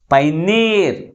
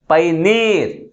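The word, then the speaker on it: pioneer: That is last syllable is pronounced with a greater force comparing with other one. That's why the primary stress is on the last syllable.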